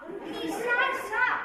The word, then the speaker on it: Nisha Shah: Nisha Shah. I'm the only one in the whole of Ahmedabad whose name rhymes with its surname; So easy to say it..